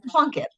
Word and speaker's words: Plunkett: sing a gramam as your name but plunket is that right did I pronounce that right yeah and I always love